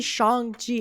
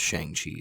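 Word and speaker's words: Shang-Chi: them say shang chi shang chi they say shang ji in the movie well before yeah well before the movie everybody thought it was pronounced shang chi so that's how everybody thought you pronounced it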